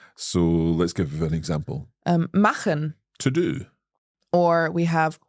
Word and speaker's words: machen: So it's a little like the h sound that we have in the Scottish word loch. Yeah, sehr Loch. gut. So let's give an example. Machen, To do.